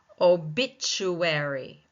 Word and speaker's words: obituary: Obituary, obituary, obituary, second syllable taking the stress.